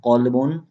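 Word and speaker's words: قلبٌ: If we pronounce qalbun, qalbun used for heart, qalbun used for heart, and kelb, kelbun used for dog.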